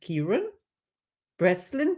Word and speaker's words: Chiaran Breslin: My name is Caroline, and my today's guest is Chiaran Breslin. Did I pronounce it right?